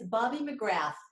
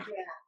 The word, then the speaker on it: McGrath: It's Bobbie McGrath. So it's just Bobbie McGrath. McGrath.